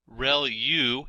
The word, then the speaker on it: ReLU: Relu is how that is pronounced.